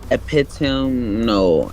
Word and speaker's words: epitome: On synonyms of which there is extant and epitome, by it's not epitome. Is it? Am I saying it wrong? Epitome. Yeah, I am saying it right.